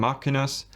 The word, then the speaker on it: Machina: I call them Machinas because I think the name is a reference to the Latin saying deos exmachina.